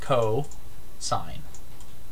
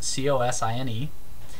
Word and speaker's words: cosine: is cosine so it's co sine spelled fully like this c-o-s-i-n-e but abbreviated cos c-o-s still pronounced cosine cosine takes any angle